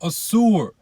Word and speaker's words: Ashur: The Assyrians come from Assur, or Ashur, however you want to pronounce it, who was a son of who?